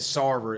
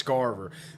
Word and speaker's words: Christopher Scarver: Yeah, I actually mispronounced his name. I said Sarver, it's Scarver.